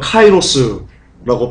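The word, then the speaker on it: καιρός: 여러분, 시대는요, 카이로스라고 발음하고요, 뜻은 시점, 시간, 때입니다.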